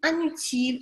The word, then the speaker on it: inutile: Donc, tu sais, pour savoir si tu prononces un ou in dans les adjectifs comme ça, ici, on prononce in parce que utile commence par une voyelle. Donc, quand tu as une voyelle après le in, on doit toujours prononcer in.